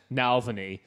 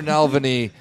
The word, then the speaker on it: Navalny: But just the idea of the Americanized name Navalny, which Rob's been saying the entire night.